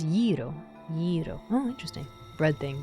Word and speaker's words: gyro: Every Greek person I know has ever has pronounced it as gyro.